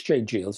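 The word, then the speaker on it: J. Geils: the J jals band I think it's j JS isn't it that's how you pronounced the band anyway the J JS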